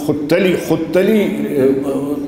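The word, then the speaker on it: ختلی: کے استاد کون تھے، ابو القاسم حسن بن محمود خطلی اس کا اصل تلفظ ہے، میں نے اور دوسری کتابوں میں دیکھا، ان سے وہ بیعت تھے.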